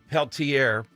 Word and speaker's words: Peltier: that the left Leonard and I believe it's pronounced Peltier for years hearing about this guy killed two